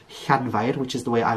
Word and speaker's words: Llanfair: the h, is by putting your tongue on the roof of your mouth and blowing out. That one is one you might need to practice, but I have heard some people, even in Wales, pronounce it as like a cl noise, like a cl.